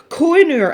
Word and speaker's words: Koh-i-noor: Koh-i-noor, it's not pronounced koh-i-noor, is it?